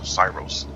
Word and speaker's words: Syros: of cirrhosis will name the name of this island is cyros we spell it with sy ros they spell it with an s-i-r-o-s and uh it's a